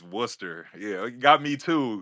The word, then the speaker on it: Worcester: in Massachusetts right Worcester Academy which everybody says War Chester that's how I pronounced it earlier that's how I pronounce it